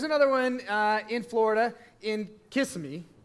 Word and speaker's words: Kissimmee: Okay, so here's another one in Florida, in Kissimmee. How do you say that, Brandon? Kissimmee.